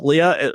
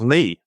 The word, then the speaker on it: Lea: I think it's Lee. Clark Lee. Yes. I know. I know it's LEA, but it's Lee. Clark Lee.